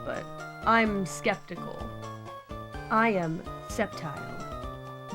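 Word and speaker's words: Sceptile: Back in the day, I read Septile as a skeptile. So, when I first heard the word skeptical as a child, I was like, "Does that have something to do with the Pokemon Septile?" But I I called it Skeptile back then.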